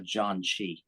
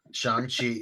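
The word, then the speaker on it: Shang-Chi: heard of a a Jan Chi never heard of that I said it wrong too Shan Chi Shan Chi is like a it's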